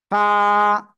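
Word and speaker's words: ف: দাঁতের আগায় লাগাবেন লাগিয়ে হালকা বাতাস বের করবেন উচ্চারণ করবেন ফা সবাই একসাথে জোরে জোরে বলেন ফা শোনেন আগে কিন্তু যদি আপনি বাতাস বের না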